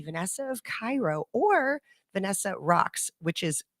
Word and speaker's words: Raqs: it would be Vanessa of Cairo or Vanessa rocks which is not spelled the normal way it'd be r-a-q-s oh I I pronounced it wrong earlier Sharky is uh the